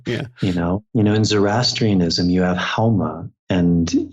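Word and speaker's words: Haoma: In Zoroastrianism, you have Hauma, and in Farsi, they don't pronounce the S. They pronounce the S like an H. So Soma, Homa, the exact same thing.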